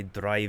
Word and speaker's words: drei: If you know German, eins, zwei, drei, vier. Dre is 3. So it's a combination of Dragon, Hydra, and eins, zwei, drei. I think that's how it's pronounced. Drei in German. That's 3.